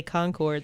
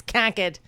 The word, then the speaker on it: Concord: they say it because when you're up there and you say Concord they're like no it's conquered it's conquered you guys